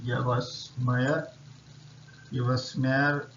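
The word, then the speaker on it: Yves Meyer: price so able price has been won by Yas Meer you smare that is how you pronounce it so is is basically a French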